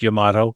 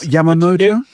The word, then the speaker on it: Yamato: And for the record, it is pronounced Yamato. That's good to know. Yes. Not Yamamoto? No, if Stuart were here, we would have a debate about Yamato.